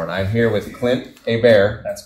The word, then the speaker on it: Hebert: some Gators tomorrow and I'm here with Clint AAR that's correct got to be careful that I pronounce it proper right we're a little touchy